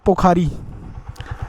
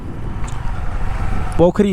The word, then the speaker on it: पोखरी: यह पोखरी है यार। पोखरी नहीं। पोखरी, सॉरी भाई, मैं मैंने इसका गलत उच्चारण किया।